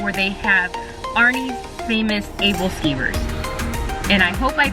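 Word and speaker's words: æbleskiver: they have arnie's famous ableskivers and i hope i pronounced that correctly because i had asked how it was pronounced and it's able steamers and these are these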